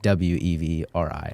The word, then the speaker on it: Qvevri: is W. It sounds like Wevri, but Okay. it's spelled. So they use this Qvevri.